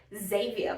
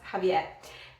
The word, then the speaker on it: Xavier: we would pronounce that ZAY-VEE-AR but I FORGOT that he is Latino and because of that and the spelling of his name it is pronounced Javier ~and~ I I love